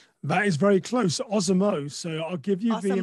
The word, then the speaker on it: OSamoh: butcher his name too badly, but it's Osama. Is that right? That is very close. OSamoh.